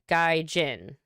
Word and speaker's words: gaijin: through my thick skull oh hard g guy jin i'm learning see i'm